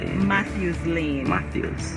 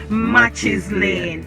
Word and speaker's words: Matthews Lane: what is it matthias matthews lane so the the tongue between the teeth heels right says matthew's laying and not matches lane not my my my